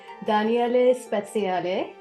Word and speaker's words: Daniele Speziale: spia and if I say his name correctly Danelle spale yes who by the pen name of Rahi